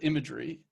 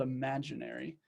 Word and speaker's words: Imaginary: so there's a service called imagery imaginary I keep saying it wrong but it's called imaginary and I don't know